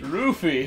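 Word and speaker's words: ルフィ: Rufy, huh? That's how they say it in Japanese.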